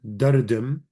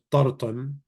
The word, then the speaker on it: dardim: To complain is dardim, dardome. Some dialects will pronounce this tartam, tartome.